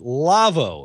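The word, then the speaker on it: Lawo: Our show, This Week in Radio Tech, episode 233, is brought to you in part by the folks at Lavo, L-A-W-O, pronounced Lavo.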